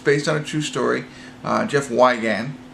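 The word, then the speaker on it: Jeff Wigand: on a true story Jeff wagon is how you pronounce his name and it'll be interesting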